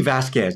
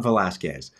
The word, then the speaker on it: Vasquez: Velazquez is here uh or really Vasquez not Velazquez really Vasquez sorry I just I have